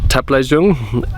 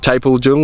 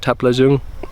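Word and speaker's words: Taplejung: Um, it's taken me a lot longer than I expected to reach Taple Jung, not Tapel Jung like I pronounced it in the beginning. I've learned now that it's called Taple Jung.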